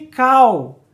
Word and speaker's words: call: Pronunciar palavras que terminam em L como se fosse U. Sim, tô falando, por exemplo, de call.